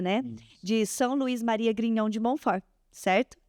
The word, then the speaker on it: Grignion de Montfort: De São Luís Maria Grignon de Montfort. Certo? É assim que pronuncia?